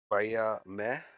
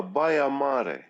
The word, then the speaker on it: Baia Mare: I'm all right to say, I know I definitely pronounced it wrong. Fuck, where is it? Baia Mare. Repeat. Baia Mare. Ah, Baia Mare.